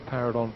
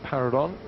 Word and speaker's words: Paradorn: on this that we're going with the name para Don and we had an email from Gwyn in Bangkok who says it's correct to call para Don para Don to use the Christian name or the first